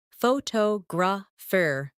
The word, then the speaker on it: photographer: Some words are pronounced with extra emphasis on one part. For example, phototograph, photographer, and photographic. The stress moves and that changes the sound.